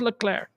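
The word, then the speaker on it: Leclerc: name is pretty cool Charles L clar and you got to pronounce it like that because he's not American you better pronounce it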